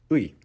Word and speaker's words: ы: Next one we have ui. Ui. So ui is not common in any other languages around the world. You can imagine this as a pronunciation from ear to e.